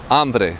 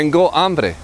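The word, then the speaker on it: hambre: b r e and you never pronounce the h in Spanish the H in Spanish is always silent so I'm hungry D amre I'm thirsty Dango and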